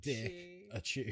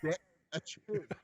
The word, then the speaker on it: Dickachu: Dick-a-chew. Just Dick-a-chew. It's like Pikachu, but with dick instead of peak.